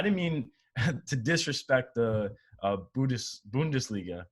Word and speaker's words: Bundesliga: I tweeted this out today, that first game back where, and not just like a game, I didn't mean to disrespect the Bundesliga, right?